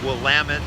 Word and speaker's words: Willamette: into the Willamette River pronounced will lament not Willamette II like quarry like Oregon